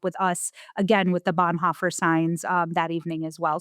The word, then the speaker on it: Bonhoeffer: it really is allegoric to the story of Bonheimer. Did I say it right? Bonhoeffer.